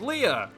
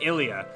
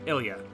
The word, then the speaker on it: Ilia: something really quick okay i looked up a quick pronunciation it is ilia um it is like you know phonetically it is like i l l the letter e and then like u h i guess phonetically uh ilia which is a pretty